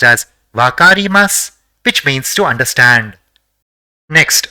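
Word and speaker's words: わかります: the fifth is SU so it will be pronounced as vakarimasu which means to understand next let us see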